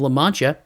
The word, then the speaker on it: La Mancha: happens in the book, as a man of La Mancha, yeah, I said it right this time, named